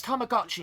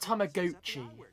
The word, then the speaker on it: Tamagotchi: It's Tamagotchi, not Tammaguchi. Who in the hell pronounces it like that?